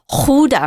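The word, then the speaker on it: Gouda: cheese they you know it's spelled g o u da but it's not GAA it's Huda or something I've heard Dutch people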